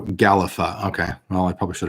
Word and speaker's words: Gællæffa: in the world of gelatin pronounced oh here we go galifa okay well i probably